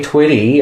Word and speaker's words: Twitty: also funny too because his last name Twitty rhymes with something that's also quite um humor inducing Twitty you know oh